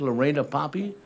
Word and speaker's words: Lorena Poppy: And Lorena, I hope I have that name correct, Lorena Poppy, will give us some information on I Can Swim.